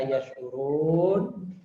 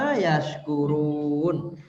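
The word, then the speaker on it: يشعرون: Walakin la yash'urun. Mereka tidak bersyukur. Tidak menyadari. Kalau bersyukur itu bunyinya apa? Tashkurun ya Ustaz. Yashkurun. Ya. Itu beda ain sama kaf saja ya?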